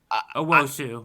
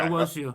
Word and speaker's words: Owusu: Owosu, yeah. Okay. Owosu, yeah.